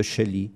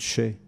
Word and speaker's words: Chelly: dans le fond du canyon de chelly faut prononcer de chai et puis des chevaux